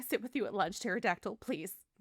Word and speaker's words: pterodactyl: with the P, was pterodactyl. I forget that there's the P, the silent P on pterodactyl.